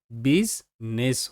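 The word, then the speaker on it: business: সো ওয়াই আই হয়েছে এবং এটা সাইলেন্ট রয়ে গেছে। এবং আগের মত করে এটা বিজনেস হয়ে গেছে।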